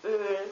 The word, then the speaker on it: Öl: Like, what comes the closest to it is the I in sir or the U in turtle, but it's pronounced Ö. A German word, for example, would be Öl, which means oil.